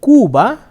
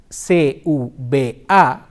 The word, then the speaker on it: Cuba: The C can also be pronounced like k, as in casa, C-A-S-A, casa, coche, C-O-C-H-I, or Cuba, C-U-B-A, Cuba.